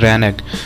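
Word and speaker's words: renege: ध्यान से सुनिएगा दोस्तों इसको प्रोनाउंस क्या करते हैं। रैनक।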